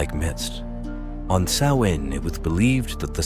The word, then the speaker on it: Samhain: Sam Hayne. That's how I always said it until I talked to someone who actually knew and they corrected me. It's pronounced sawin. Rhymes with cowin.